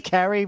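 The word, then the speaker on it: Carey: he showed up that's that's because Carrie rhymes with Sherry and Terry he literally came out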